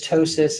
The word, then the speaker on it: ptosis: of the word is ptosis in the P in ptosis is silent however pronouncing it apoptosis